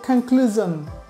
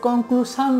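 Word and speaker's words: conclusion: decision না এটা হবে ডিসিশন ডিসিশন তারপরে রয়েছে কনক্লুশন আমরা এটাকে কনক্লুশান বলি মানে কনক্লুশন মানে সমাপ্তি বা উপসংহার তো এটার সঠিক উচ্চারণ হবে কনক্লুশন তারপরে রয়েছে ভার্জন অ্যান্ড্রয়েড ভার্জন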